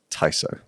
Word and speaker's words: Tiso: to hear from yourself how you pronounce your own business's name just to clear that up tyo tyo not tiso a lost there's no e there's no Zed tyo okay well forgive me